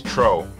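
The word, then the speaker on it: Trouw: this video by Elise tro rhymes with snow and this is just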